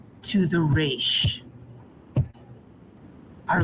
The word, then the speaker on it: Resh: foreign to the race our letter for the day is the letter race it makes the r sound and it combines normally